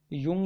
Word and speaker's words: Jung: युंग या जुंग भी इसको कहते हैं, युंग या जुंग। क्योंकि ये देखिए आप इंग्लिश वाला देखोगे तो हिंदी में लिखा हुआ है युंग, और इंग्लिश में स्पेलिंग है JUNG, तो कई बार ये जुंग भी लिखाता है।